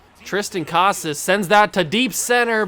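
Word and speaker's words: Triston Casas: get another debut Tristan how do they say it it's Tristan Casas okay that's how I will pronounce it now that I know Tristan Casas sends that to deep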